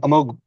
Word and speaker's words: Amogh: Uh so you know before we get started with the questions um Amog do you want to um first of all I am pronouncing that correct right perfect. Um Amog would you like to introduce yourself real quick?